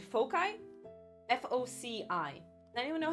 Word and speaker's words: foci: Am I pronouncing the word right? Foci? F-O-C-I.